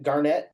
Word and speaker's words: Garnett: Tonight we have Arnie from GV Limousin in Garnett, Kansas. You pronounce it?